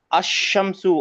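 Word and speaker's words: الشمس: इन the word अशमसु अशमसु व्हाई इज द लाम ऑफ अल not pronounce क्यों नहीं pronounce होता है अशमसु के अंदर लाम बिकॉज़ शन इज अ सन लेटर आपका आपका ही नंबर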